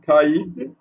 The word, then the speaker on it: caïd: Donc ici, on peut trouver le tréma sur des mots, sur la lettre I, d'accord? Prononcer I, bien sûr. Par exemple, ici, le mot caïd, caïman.